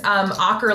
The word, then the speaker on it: Aaker: Jennifer Aaker? Yeah, Jennifer's great. Jennifer's great. Naomi, is it Bagdonas? That's shockingly perfect. And Aaker is Aaker like rocker.